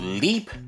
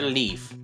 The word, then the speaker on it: Leaf: the empty space here so leap or leaf yeah this letter can be pronounced either way I guess I'll go with leaf so she is a